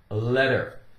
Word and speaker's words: letter: word letter letter in it's very common for a t in the center of a word or inside a word to be pronounced with more of a D sound D the letter D is in dog that's the case here